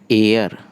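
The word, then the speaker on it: heir: friend ऐसे जो next है आपका व है एयर चीफ को पढ़ते हैं अरे क्या पढ़ते हैं अरे इसका मतलब है उत्तराधिकारी इसको हेयर नहीं पड़ेगी क्या अफेयर तो यह का पहला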